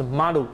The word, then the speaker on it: 丸: 然后呢，这个圆形呢，就是马鲁，马鲁就是日本的那个发音是丸，好，哦，马鲁，马鲁河。